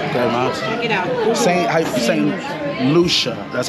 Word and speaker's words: St. Lucia: St. Lucia. That's how you pronounce it.